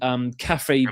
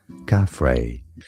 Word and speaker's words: Khafre: These were colossal, interconnected cylinders hidden deep below the Khafre, I think it's pronounced, pyramid. I actually brought it up here because I couldn't pronounce it. Hang on. Khafre.